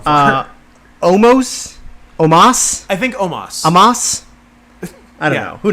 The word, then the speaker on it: Omos: I think it's pronounced like it's spelled Omoss. I think it's Omos. Yeah, I think so too.